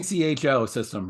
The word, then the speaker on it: ecosystem: ECHO system, right? This is an ecosystem. Echo.